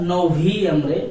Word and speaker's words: noviembre: And noviembre, not Noviembre, because this letter name is ube and it will be pronounced like bo. There is no bo sound in Spanish language, so it is Noviembre.